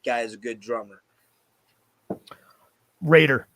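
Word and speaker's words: Roeder: a fucking monster drummer rotor is holy shit that guy is a good drummer Raider to pronounce Raider Raiders sorry it looks like rotor he's just a killer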